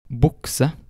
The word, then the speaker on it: bukse: Sometimes the letter U will sound like O. Examples of this are ungdom, bukse.